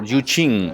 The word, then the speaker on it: Yu Jing: Okay, Jing or Yuqing, as we should pronounce, because this is like translated Chinese thing, and the pronunciation varies depending on the translation. Chinese is very complicated, really.